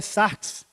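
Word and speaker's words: σάρξ: A pronúncia, eu não sei se estou certo, mas é sarx, a palavra, que é outra palavra.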